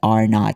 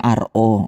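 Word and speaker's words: R₀: This is actually pronounced as R not. Hindi po yung RO. O hindi lang ako na-typo dyan. Talagang ganyan talaga siya isulat. Pero ang pronounced dyan ay R not.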